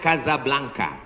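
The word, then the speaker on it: Casablanca: Nama negaranya Maroko, ibu kotanya tulisannya Casa Blanca. Cara bacanya Kazablanka.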